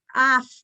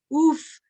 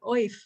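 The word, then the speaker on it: אויף: And it's spelled in transliteration OYF, but I keep telling students you have a choice of pronunciation of, af, oof, right? But it's really not oif.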